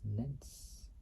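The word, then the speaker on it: Netz: rebranded in 1998 as Nets. So Nets, can't really say well, but it's spelled N-E-T-Z or N-E-T-Z.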